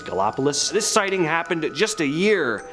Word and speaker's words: Gallipolis: Village of Gallipolis Ohio not sure if I'm pronouncing that right but I think it's galopolis this sighting happened at